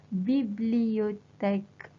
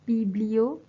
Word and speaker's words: bibliothèque: It is la bibliothèque. La bibliothèque. It's quite long, right, as a word, so sometimes you can actually just pronounce it as biblio.